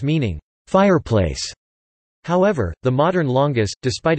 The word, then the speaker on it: lángos: Lángos (Hungarian pronunciation: la-o, Turkish: lalanga) is a Hungarian food speciality, a deep-fried dough.